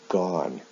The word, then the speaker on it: gone: Now in the past participle, the spelling of the ending is the same, but the pronunciation is different. O-N-E with do is pronounced done. O-N-E with go is pronounced gone.